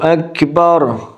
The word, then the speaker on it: اکبر: آ رہی ہے اللہ اکبر۔ آپ کو یہ اکبر الف زبر آ اکبر، اللہ نہ کہ اللہ،